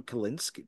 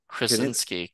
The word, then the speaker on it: Krasinski: I think I might be saying his last name wrong. John Kalinske, Kurinsky, Kalinske. that was Kalinske. Krasinski.